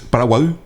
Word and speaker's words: Paraguay: Porque el nombre del río es Paraguay. Pero como los españoles no podían pronunciar la I gutural, la Y. entonces decían Paraguay. Entonces quedó Paraguay.